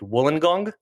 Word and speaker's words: Wollongong: I mean, as far as your work and you work in I hope I'm pronouncing this correct, Wollongong That's right, in University.